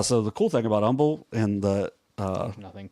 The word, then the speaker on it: Humble: dude I was in Umble I don't even know that is Umble is spelled humble but they just don't say the H you're welcome Umble is